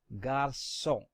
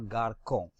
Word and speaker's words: garçon: However, when C is followed by A, O or U, and you want the pronunciation of C to be like S, then we put a cédille under C. Therefore, this is pronounced as garçon and not garçon.